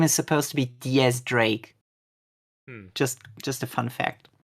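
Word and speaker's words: X Drake: His name is supposed to be Diaz Drake.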